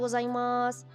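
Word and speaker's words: ございます: escuchado la expresión arigato gozaimasu. Go, za, como un zumbido, como zzz, y aunque venga un masu al final, se va a pronunciar más.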